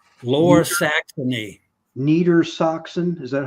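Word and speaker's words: Niedersachsen: would that be U it it was called Neer soxon low Saxony Neer Saxon is that how you say it yeah neita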